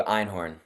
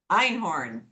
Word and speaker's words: Einhorn: And, help me in pronouncing your name. Einhorn. Einhorn.